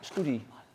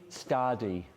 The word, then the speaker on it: study: Just be careful, Alba, with studi. With what? Studi. When you study. I study. Study, yeah. Study. It's the sound is. I'm a student and I study.